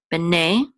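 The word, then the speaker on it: בני: And then ne. In B'nai is what's accented, B'nai, and then L, here's the last syllable of Yisrael is what is accented, Yisrael.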